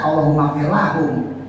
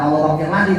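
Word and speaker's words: اللهم اغفر لهم: kalau buat perempuan kan kalau Bapak baca allahumagfirlahum bukan allahumfirlahim kan Nah kalau menurut yang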